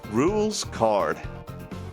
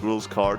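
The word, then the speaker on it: Rouxls Kaard: name right time's up the pronunciation is rules card got it rules card because there's lots of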